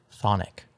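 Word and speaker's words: chthonic: t h o n i c and it's pronounced Sonic c h t h o n o n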